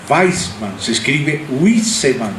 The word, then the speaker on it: Wiseman: Weisman. Se escribe Wiseman, W-I-S-E-Man, Wiseman, Weisman.